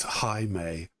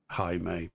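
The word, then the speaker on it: Jaime: it it it's j me but um it's pronounced highe because it's like j a i m e and it's it's like apparently you're supposed to say it as highe but High I I don't like that because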